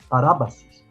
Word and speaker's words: parabasis: s i s par parabasis com acento no na segunda sílaba ra parabasis isso é transgressão que